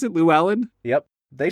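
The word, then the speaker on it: Llewelyn: who plays a dude named Le lelin luin Luellen Luellen yeah yeah L is that how you pronounce it Lou Allen yep they say it multiple times in the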